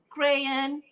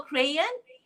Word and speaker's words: crayon: They know that this is a crayon. You can call crayon or crayon. Both pronunciations are British English.